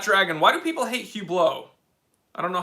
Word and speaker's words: Hublot: why do people hate hugh blow i don't know how to say the name well it's hublot but if you said hublot i wouldn't really care uh because they're trash